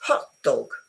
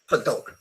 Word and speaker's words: hot dog: Okay, so it's widespread. No, widespread. It's cheesecake. No, cheesecake. you know, it's hot dog. No, hot dog. To say it with a stress on the second either changes the meaning or makes the word a bit odd.